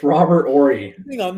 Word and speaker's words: Horry: it's Robert Ory. I think I'm not announcing these names. No, it's Robert Ory. Robert Hornery. Ory. It's not that hard. Horry? Or E. Robert Horry. No, you don't pronounce the H.